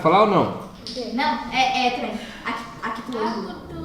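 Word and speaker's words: acutângulo: Pelo amor de Deus, não vai inventar falar lá. Ah, é o agutango. Não é agu. Porque se escreve agudos, e a gente acha que é agutango. Não é, não existe agutango. É o acutango.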